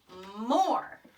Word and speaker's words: more: I can see that or sound. Or. Our friend E there is silent.